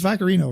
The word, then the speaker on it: Vaccarino: Vaccarino. Vaccarino? It's Vaccarino, right? Am I pronouncing that right?